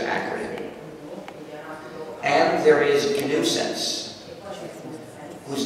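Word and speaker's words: gNewSense: and another recursive acronym and there is a new sense whose name is also a joke it's spelled g new sense g-n-e-w-s-e-n-s-e but my title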